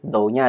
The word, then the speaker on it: 道: karena kanji ini sendiri mici Ya maksudnya kanji mici dengan cara baca do itu sering sekali dipakai untuk